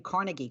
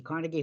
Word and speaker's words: Carnegie: and I've been saying Carnegie Carnegie Hall my whole life and I always hear now I'm radio and TV car Cari and I'm like I guess I've been saying it wrong but workers at the